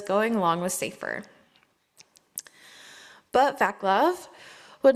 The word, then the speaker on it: Václav: Probably said that name wrong too, I'm sorry. Václav? Václav, okay, thank you.